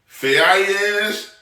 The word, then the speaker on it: Faiyaz: I think Faiyaz, it's Faiyaz. I think that's how it's pronounced.